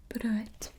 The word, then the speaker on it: brood: So bread is just brood with the R there, bit of a roll there, and a long O sound, brood.